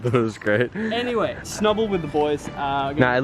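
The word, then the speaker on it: Snubbull: I've been saying it wrong. It's Snubble.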